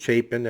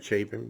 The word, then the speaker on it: Chapin: Ethan Chapin, I'd been pronouncing it Chapin as in Harry Chapin, but I guess they pronounce it Chapin.